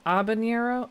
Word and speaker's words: habanero: If you're going to be really a pedantic, the H is silent. Abanero.